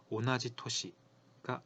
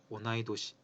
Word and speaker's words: 同い年: 오나지 토시가 아니고요. 오나이도시, 오나이도시라고 해야 합니다.